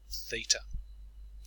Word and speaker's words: theta: this symbol it's a Greek letter and we pronounce it theta you'll notice that in these examples we're trying